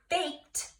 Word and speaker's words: baked: plan Ted also I baked a cake yesterday baked I hear the T sound so that Edie is actually making a T sound at the end so I'm gonna put